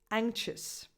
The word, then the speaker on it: anxious: Examples: anxious. Yes, in the words anxiety and anxious, the X has 2 different sounds.